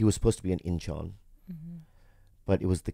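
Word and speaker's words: Incheon: wife and a child and they lived in ichon Korea inchon inchon yeah in is how you spell it in inchon and his um wife and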